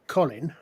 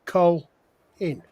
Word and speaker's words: Colin: So when I pronounce my name, Colin, the L tends to be Col in. Right? When an American pronounces it, it tends to split. It becomes Colin, which tends to draw out the O a little bit. So it goes a little bit more like Carlin.